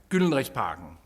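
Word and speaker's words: Gyldenrisparken: You're going to the Golden Rod Park, or as we pronounce it in Danish, Gyldenrigsparken.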